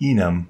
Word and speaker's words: enum: is short for enumeration I am gonna pronounce it even but you may wish to say enum as is often heard hi my name is